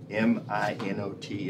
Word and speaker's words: Minot: And Winter has assured me that M-I-N-O-T is Minot, North Dakota, because his wife is from North Dakota. And watch we find out that it's something else, but he's assured me that's the correct pronunciation.